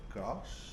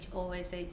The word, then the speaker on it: Ghosh: Most of you Westerners drop the H. It's Okay. Ghosh, so Ghosh. Ghosh. Yeah. Okay. No, you still can't. It's okay. Ghosh.